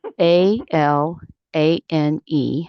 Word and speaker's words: Alane: My name is A L A N E. Okay. So, I would say a street, a road, a lane.